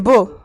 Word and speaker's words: Beau: Dis-toi, Ah non, j'ai toujours cru qu'il s'appelait Bou. Non, mais je l'appelais beau. En fait, Moi, je en pensais que anglais, t'écris ça se prononce. B-O-W, tu vois. Non, c'est genre beau comme l'adjectif beau.